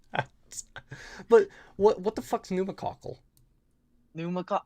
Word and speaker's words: pneumococcal: Uh, and it's called pneumococcal.